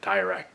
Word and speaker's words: Nadirak: it's an interesting title the direct gate not iraq but not spelled that way even it's spelled n-a-d-i-r and yeah n-a-d-i-r-a-k it's more like kodak or hordak yeah a lot of